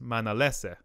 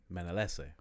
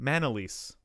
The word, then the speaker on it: Manalese: not not many people it's pronounced man Alessa man LSA and then you know things change right pronunciations change but my mom got a job this is the story that I know my mom got a job here and they just pronounced your name Manolis which is one less syllable and not pronounced at all similar at all Manolis mine LSA because